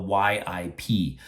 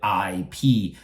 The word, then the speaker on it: Yip: And that means a lot of people say Ip Man. And so that is another very common mispronunciation of his name. So how should they say that name? Because in Chinese, no matter Mandarin or Cantonese, we pronounce the Y and I is the same pronunciation, is E. So it's come together, it will be yip.